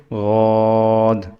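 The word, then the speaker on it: ضاد: زیڈ یو اے ڈی، اور ہم زیڈ میں وسلنگ شو نہیں کریں گے، غاد غاد۔ غاد پڑھنے میں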